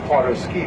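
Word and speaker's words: Potter's Cay: sides this area is known as parter ski which is spelled p o t t e r c a y and this is one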